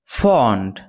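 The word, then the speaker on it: fond: ফন্ড ফন্ড এর আরেকটি উচ্চারণ হচ্ছে ফান্ড।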